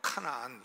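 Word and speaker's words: Canaan: 가나안은 영어로 카나안 이렇게 발음하겠죠.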